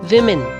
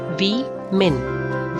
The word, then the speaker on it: women: When you are referring to more than one female, it's called women. Women. We-men. Women. So single, woman, plural, women. Wo and we.